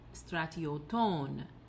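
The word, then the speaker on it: στρατιωτῶν: Then we have our third rule kicking in for the genitive plural, stratioton, circumflex on the final syllable.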